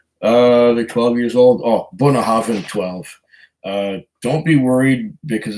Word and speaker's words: Bunnahabhain: Bunnahabhain 12, I would recommend that too. That's spelled Bunnahabhain. It doesn't spell the way you would pronounce it, or doesn't pronounce the way you'd spell it.